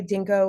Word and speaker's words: DNKO: like to go by Dinko which is our initials DN KO we just pronounce it Dinko which makes a little bit more fun to say uh and we're really